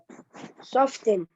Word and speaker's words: soften: of the clay soften no don't spill tea it is silent okay tea is silent okay